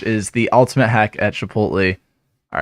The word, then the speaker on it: Chipotle: the ultimate hack at Chipotle. All right, wait. You notice how we pronounced that last syllable in Chipotle? He's like Chipotle. Chipotle. He's like yeah. All right, it's got that weird thing.